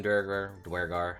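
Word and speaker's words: duergar: Dwarves and Dwergar, however you want to pronounce it. I'm going to keep saying Durgar because it rolls off the tongue easier for me. It's probably Dwergar, but that's how it is.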